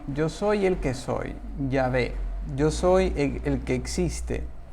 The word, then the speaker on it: Yahvé: el Antiguo Testamento, es Yahvé. Es la pronunciación más cercana.